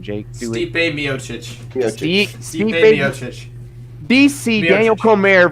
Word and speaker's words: Stipe Miocic: Stipe Miocic.